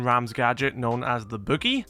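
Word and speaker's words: BU-GI: gadget known as the Boogie. I originally thought it was meant to be pronounced Buggy, but Ubisoft called it Boogie, so yeah, we'll run with that.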